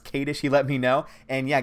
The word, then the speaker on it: Kadish: I appreciate that in his last name is pronounced Katie she let me know and